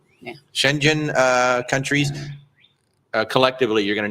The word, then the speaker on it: Schengen: Schengen? Yeah. Schengen countries.